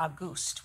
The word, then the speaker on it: Auguste: Or Auguste would be the proper way to say it.